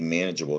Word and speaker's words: manageable: at the end um if we didn't have that e that wouldn't be manageable that would be man a gable manic double it would be a hard g sound that's why the e's got to stay in that word so you keep that soft g sound advantage right so we